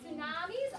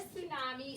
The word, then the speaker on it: tsunami: sound it out yeah you would try to say that t but that t is silent which never ever happens